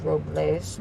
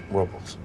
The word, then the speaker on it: Robles: it us approvals well the correct pronunciation is Robles but they call it Robles whatever I hope it's